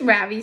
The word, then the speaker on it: Ravi: Yes, Ravi, said Mrs. Beam. I notice she says his name right for the first time with the accent on the second syllable.